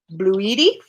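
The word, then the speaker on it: bluidy: He spelled it B-L-U-I-D-Y. It's very important that you pronounce that correctly. Bloody. Bloody. Bloody. Bluedy.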